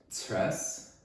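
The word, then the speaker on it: Cres: It's a Sunday afternoon, and I came back on Friday afternoon from Tres, C-R-E-S. Kind of a difficult place name to pronounce for a non-Croatian speaker, Tres.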